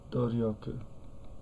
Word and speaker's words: 努力: Doryoku.